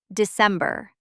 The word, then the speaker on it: December: When C comes before E, it sounds like S. December.